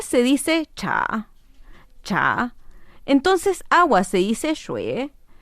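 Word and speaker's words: 茶: re es caliente y T T se dice cha cha entonces agua se dice shue agua caliente es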